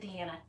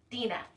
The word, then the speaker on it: Dina: I'm sorry, I said Deanna. Dina.